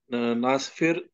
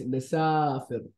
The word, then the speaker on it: نسافر: No, it's نسافر. Can you say it again? نحن نسافر. نحن نسافر إلى الهند. Yeah, the pronunciation is very like in Arabic language. If you like pronounce little bit wrong, also it can like it can like it gives you different meaning, totally different meanings or wrong. خلاص, you must pronounce the perfect in the perfect way.